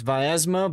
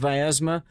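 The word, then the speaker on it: Vyazma: Um because it's Vasma, but everybody tells me that I mispronounced Viasma, so they'd rather I call it something else.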